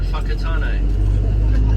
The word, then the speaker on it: Whakatane: Somewhere further south, you go somewhere like Whakatane.